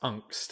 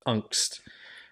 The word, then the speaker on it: Angst: Yeah, I was gonna say it is pronounced Angst. I was paying very close attention anytime he said it, so it is pronounced Angst.